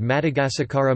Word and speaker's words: Madagasikara: In the Malagasy language, the island of Madagascar is called Madagasikara Malagasy pronunciation, Madagascar, and its people are referred to as Malagasy.